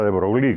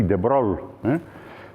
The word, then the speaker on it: de Broglie: Entonces, si leen ahí arriba, de Broglie, no se pronuncia de Broglie, como suele decirse por aquí, de Broglie.